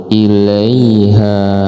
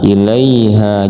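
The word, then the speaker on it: إِلَيْهَا: Kemudian ilaiha, ilaiha, nah ini huruf lain, jadi bacanya harus lembut. Ilaiha, nah ilaiha, jangan ilaiha karena tidak ada tasydid di sini, nggak boleh ditekan, nggak boleh dimasukkan, langgeng aja jalannya.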